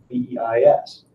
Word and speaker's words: VEIS: The I is silent.